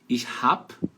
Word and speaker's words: ich hab: Ich hab, letra B com som de P.